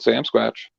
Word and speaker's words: Sasquatch: not sit correctly that Sasquatch not Sam Sam is a good guy I'm from it planta Canada so we pronounce it Sam scratch okay never seemed really